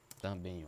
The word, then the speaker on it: também: A outra aqui, também é uma, também, ó, também é uma, ó, também. Sílaba mais forte, a última, né? Oxítona terminada em, certo?